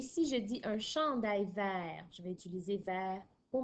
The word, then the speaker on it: vert: Alors, ton E ici, il se prononce E, mais il n'a pas d'accent. C'est parce qu'il y a deux consonnes à la suite de ton E. C'est pour ça qu'il se prononce E. Et comme dans le mot petit, à la fin du mot vert, il y a un T qui est muet au masculin, puisqu'il n'a pas d'autres